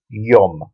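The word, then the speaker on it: יום: it's an o sound so we got Y and then a final me a me this is a me a m sound which is at the end of the word so we've got y or yum which means day in modern Hebrew as well and then we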